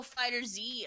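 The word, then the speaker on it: FighterZ: Oh, Fighter Z. Okay, yeah. Yeah, it's Fighters with a Z. Yeah, there's no space, and everyone's pronouncing it without a space.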